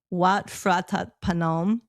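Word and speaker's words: Wat Phra That Phanom: But we went to the temple there, which is, I'm going to massacre the name, but Wat Phratat Panom. That's exactly how you pronounce it.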